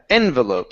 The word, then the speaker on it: envelope: envelope okay uh yeah so the stress is at the beginning envelope so right here envelope